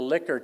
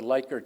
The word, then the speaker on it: Likert: what I'm doing uh you've all heard of the liquor scale some people pronounce it the likert scale you ask them questions